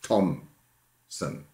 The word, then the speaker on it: Thompson: others thompson for example you know thompson spelled with a p well it's tom sim the per is an etymological um it's there because uh it's one of these sounds which occur if you speak sloppily thompson thompson thompson if you